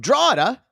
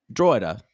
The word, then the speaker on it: Drogheda: Sean, 38, from Drogheda, Ireland. Drogheda. I had to make sure I looked it up and pronounced it the right way. Drogheda, Ireland, as he said, which is outside of Dublin.